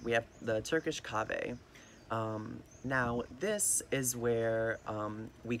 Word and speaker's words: kahve: Now, The Turkish had a different pronunciation of it, which is kahve.